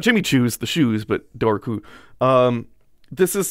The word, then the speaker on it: Dobhar-Chu: k um not jimmy choos the shoes but dorku um this is said on occasion uh it's